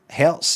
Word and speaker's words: Hz: Herz has got a zed sound at the end that sounds like Hz's.